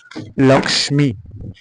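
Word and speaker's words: লক্ষ্মী: দিয়ে শব্দ দেওয়া আছে লক্ষী এটা আমরা বাংলা ভাষায় লক্ষী পড়ি কিন্তু এটা যদি আমরা ভাঙ্গি এখানে কি কি বর্ণ আছে ল আছে ক আছে মধ্যনেশ আছে ম আছে তো সংস্কৃতের ক্ষেত্রে কি করতে হবে প্রত্যেকটা বর্ণ উচ্চারণ করতে হবে লক্মী যেমন সরস্বতী আমরা বাংলা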